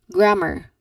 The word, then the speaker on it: grammar: So they often add an extra e sound at the end which should not be done. It should be just an a sound in there like grammar grammar.